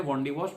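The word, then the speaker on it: Wandiwash: British उच्चारण है वॉन्डिवॉश।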